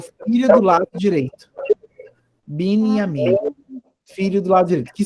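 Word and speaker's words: בנימין: Então, como é que eu leio? Binyamin. Isso, eu juntei a sílaba aqui, o Nun com o Yud e o A. Binyamin.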